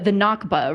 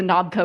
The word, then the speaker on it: Nakba: The Nakba, right? Not the I swear I kept typing it as the Nabka, which is extremely embarrassing.